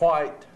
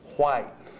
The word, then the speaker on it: White: it's spelled W-H-I-T-E, according to the way folks say it today. Yeah. And if you say it with an S on the end of it, you may be considered to be a little